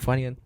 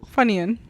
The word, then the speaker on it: Funyuns: Like a Funyun. What's a Funyun? It's a snack, I'm pretty sure. Is it? Yeah. Is that an American snack? I feel like it is. Funyun?